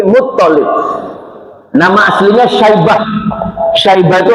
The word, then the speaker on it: Muttalib: Hati-hati toknya, tasjidnya yang di tok, ini bukan Muttalib, bukan, tapi Muttalib.